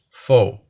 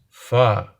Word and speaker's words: pho: My lovely friend Sa told me that it's not pronounced pho, it's pho, but it's like said like a question.